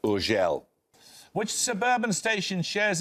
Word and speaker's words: Urgell: It's usually pronounced Urgell.